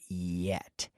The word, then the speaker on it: yet: with the pronunciation of the word yet yet this is like the Y as in yellow not not jello no no that's the